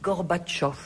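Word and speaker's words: Gorbatchev: Non d'abord faites-moi plaisir dites Gorbatchov. Gorbach parce que tout le monde le dit maintenant, tout le monde prononce bien.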